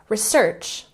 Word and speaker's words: research: And next we have environment. Emphasize the second syllable.